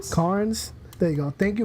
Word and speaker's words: Cairns: Carnes.